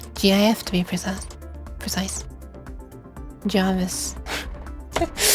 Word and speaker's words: GIF: so obviously G yes I pronounce it g as well GIF to be precise precise